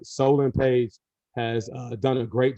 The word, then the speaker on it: Solon: Solomon Solon, I got to make sure I pronounce his name right. Solon Page has done a great job.